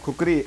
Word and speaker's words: खुकुरी: Spelling बने और आखिरकार आज पश्चिमी देशों में इसे कुकुरी बोला जाता है। इंडिया में खुकुरी और नेपाल में इसे जाना जाता है इसके ओरिजिनल नाम से जो है खुकुरी।